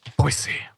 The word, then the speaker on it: Boise: NC State, Utah, Iowa, Wisconsin, Boise State with the proper pronunciation. Thank you very much. Boise.